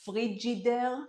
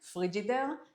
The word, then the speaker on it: Frigidaire: We pronounced it frigidaire, frigidaire, and that is how I remember we used to call fridge.